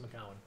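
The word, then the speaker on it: Macoun: It's written Macoon. It's pronounced Macallan.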